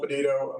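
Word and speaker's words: Peditto: U I'd like to introduce PA Patito how did you pronounce that I don't want to mispronounce it thank you Mr chairman and members uh yeah my name is podo I'm the assistant secretary for land resources at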